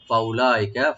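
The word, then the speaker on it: أولئك: করে চলবে, ওইসব লোক, ফাউলাইকা, ফা ওপেন রাখবেন, উলা উতে কোনো টান নাই, এটার ওয়া যে মাঝখানে আছে এটা সাইলেন্ট থাকবে, উজ্জু থাকবে, এটা উচ্চারণ আসবে না, প্রনাউন্স আসবে না।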